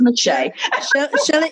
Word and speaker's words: Meche'tte: Meshay is spelled Mechette. I know. Everybody's like, Meshay. Yes, it's Meshay.